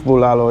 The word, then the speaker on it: bulalo: Then we have beef bulalo, yeah?